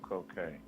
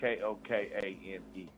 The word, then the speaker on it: Kokane: People say, why you call yourself Kokane? Well, it was never intended to perpetuate drugs, even though we talk about the hardships of growing up in the hood. Cocaine is spelled Kokane.